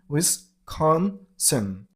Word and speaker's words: Wisconsin: Stress on the middle syllable, on con sound, Wisconsin.